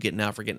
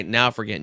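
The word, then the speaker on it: Naufragant: because who knows n-a-u-f-r-g-a-n-t it's like now fragrant but without the r extra r in there and uh you can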